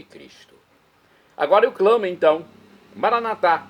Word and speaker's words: Maranatá: Agora eu clamo, então, Maranatá, do dialeto de Jesus, o aramaico, ou maranata, como dizem nossos irmãos, separados das comunidades evangélicas ou protestantes, não importa, pronúncia, o significado é o mesmo.